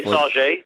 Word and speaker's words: Sauget: Is it really Sauget? It's Sauget. It's a French pronunciation.